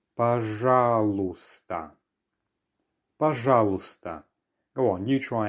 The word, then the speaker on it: пожалуйста: Once again, пожалуйста. So we have another silent letter here. The y towards the end is not heard. So it's пожалуйста.